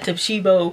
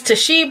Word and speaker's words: Toshiba: I was reading this and it's got an O in it, and I said Toshiba. It's Toshiba.